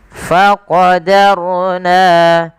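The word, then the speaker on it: فقدرنا: Kemudian pada lafal faqarna di sini ada huruf ro yang sukun didahului dengan fathah maka kita namakan dengan hukum tajwid berupa ro tafkhim yang di mana rnya harus dibaca dengan tebal ya tidak dibaca dengan faqadarna tapi dia menebalkan huruf rnya tapi dannya tetap tipis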